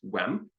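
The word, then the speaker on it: uaim: So for from me is wem.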